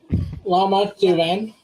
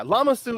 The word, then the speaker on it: Lama Su: In the movie, they say Tonwi, but yeah, Lama Su is the one that. Yeah. No worries, yeah. The way even when I read that and I saw it pronounced, I'm like, wait, is the U silent?